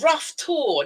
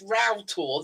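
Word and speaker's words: Roughtor: Yeah, I used to get the same with some of the Cornish places, because Like I said, oh, rough tour. No, it's row tour, though it's spelled Rough.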